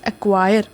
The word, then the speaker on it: acquire: Next word is acquire. Spelling is ACQIRE. Many of the students write the spelling of acquire. मैंने देखा है ACQIURE. यहाँ पे acquire का spelling यहाँ पे C in the acquire is silent.